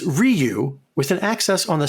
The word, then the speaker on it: Ryu: from Chico California it's Ryu with an access on the second syllable though you should try to say it as one syllable Ryu Ru it's not Ru and it's not Ru